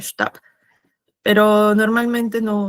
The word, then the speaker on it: Stab: Y tenemos la palabra Stab. Se pronuncia como una A un poco más larga. Y algo a tomar en consideración es que este es der Stab, que viene a ser como que el bastón. Y esta B se pronuncia como una P al final, Stab.